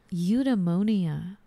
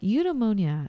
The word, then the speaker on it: Eudaimonia: Eudaimonia.